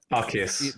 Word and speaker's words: Arceus: Like I bought that, however you pronounce it, Arceus or whatever. Arceus. That's it.